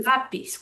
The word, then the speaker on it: lápiz: Same thing with lápiz. We should say lápiz, but we say lápiz. We're stressing the second to last syllable.